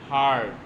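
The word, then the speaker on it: heard: উচ্চারণটা কি জানো তো? হার্ড। শেষে HEARED নেই, শুধুমাত্র ডি আছে।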